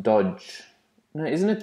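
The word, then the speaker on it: Doge: guy oh there's a it's pronounced dodge now in this like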